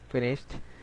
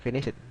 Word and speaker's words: finished: Finished. Bacanya finished, aja dehnya. Finished. Nah, bukan finish it, tapi finished. Nah, kalau bentuk pertama finish. Bentuk keduanya finished. Finished. Ada dehnya, id-nya.